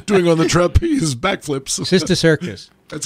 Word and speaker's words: cysticercus: The characteristics of the lesion on MRI may help to differentiate between a colloidal or viable and a degenerating cysticercus.